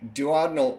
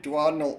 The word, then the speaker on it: duodenal: I think the surgeons made everybody start pronouncing it wrong, but if you think about it, putting the stress on the third syllable of a four-syllable word, that sounds ridiculous.